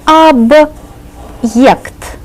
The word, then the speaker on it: объект: The hard sign is right here, and it serves as a word divider. It tells us to pronounce the first part separately and then say the second part separately.